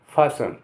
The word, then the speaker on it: fasten: FASTEN फासन, लिखा फास्टेन जाएगा लेकिन कहेंगे फासन माने बांधना।